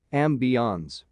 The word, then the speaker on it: ambience: Ambience, for some reason there's an increased incidence people are pronouncing it French, ambiance.